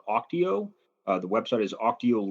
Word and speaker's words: Auctio: today so uh first of all did I pronounce the name of your company correctly is it Oco you did yes okay cool and what did